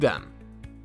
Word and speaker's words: Surem: The Pascua Yaqui Creation story begins with the Surem (pronounced SooDem). There is no description of